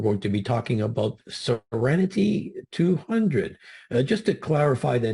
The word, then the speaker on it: SEREN-T200: So it's been rebranded as SEREN-T200, pronounced like the word serenity.